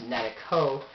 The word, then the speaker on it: Netako: the website however my username or Alias is netico and KO yes it's pronounced netico I just haven't really gone through to find